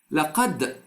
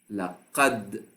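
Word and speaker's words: لقد: So up till now, I just pronounced the letter, but I did not apply the qalqala. When I say laqad, I did not apply the qalqala yet, but I pronounced the letter correctly.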